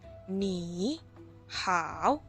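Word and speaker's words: 你好: Oh ya jadi bacanya Yang di depan ini yang pertama nih harus jadi nada2 bacanya nih how walaupun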